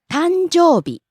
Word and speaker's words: 誕生日: 誕生日。 Birthday. たんじょうび。誕生日。 Rising on the second syllable, coming down on the second to last syllable, u.